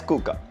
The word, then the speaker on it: Coocaa: Yes, it's written as Coocaa, but it's pronounced as Coocaa.